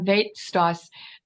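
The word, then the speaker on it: Veit Stoss: Yeah, it's called Weitstoss, and that's the anglicized pronunciation of his Polish name.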